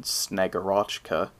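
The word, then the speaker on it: Snegurochka: is another one called snyagorochka which i insist on pronouncing like that because it just sounds a lot better than snagarachka snyagorchka is the snowmaiden who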